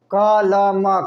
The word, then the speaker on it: कलम: क ल म कलम, तो क का पूरा उच्चारण क, ल का पूरा उच्चारण ल, म का पूरा उच्चारण नहीं होता, हाफ होता, कलम, म नहीं है।